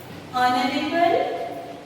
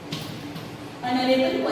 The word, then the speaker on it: honorable: Ant, honorable, position. Honorable position. Students, look at these examples. Here, honest and honorable. No doubt it has started from H, but while pronouncing we are using the vowel sound.